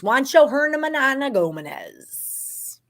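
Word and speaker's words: Juancho Hernangómez: It was Juancho Hernan Gomez.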